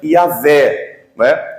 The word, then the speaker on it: Yahvé: Do hebraico dizem que a pronúncia mais próxima seria Yahvé, Aportuguesando, nós lemos na Escritura, Jeová.